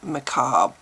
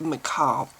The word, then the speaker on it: macabre: For the very longest time, I was saying macabre.